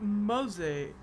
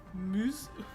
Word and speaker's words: Morza: Not Mose, not Mose or Mazi. No, Muz.